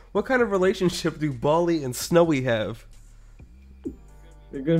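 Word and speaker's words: Bally: Bali. Bali. Like Bollywood? No, just Bali.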